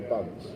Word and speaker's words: BUNC: that's called a bunce Okay. or a bunk, depending on how you pronounce it.